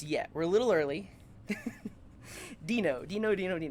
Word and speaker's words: Deno: learning Dino oh sorry Dino okay I think that that'll I will try to pronounce it correctly Dino it's not dead no do you know um